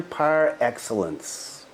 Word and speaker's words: par excellence: 10 prior excellence part Excellence is a French word not pronounced in the in the American way that I'm pronouncing it and it means